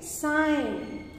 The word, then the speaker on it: sign: You say sign.